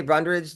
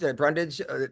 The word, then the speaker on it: Brundage: to fight me I think I said your name wrong by the way up top did I say brundridge Brundage I think I it up